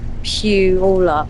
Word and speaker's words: Puyallup: Remember, playa is pronounced Puyallup.